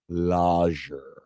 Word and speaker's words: lager: This is a German-style dark lager. I believe it's pronounced lager. The G is silent or soft. It's a soft G.